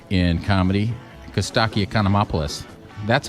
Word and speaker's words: Costaki Economopoulos: now joined by the biggest name in comedy cuz stocky economy opolis that's how you say it right that's how